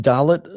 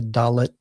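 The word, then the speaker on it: ד: Um, but when it has the dagesh lene, it's the D is in day. But if it does not, then it's pronounced with like the TH of the.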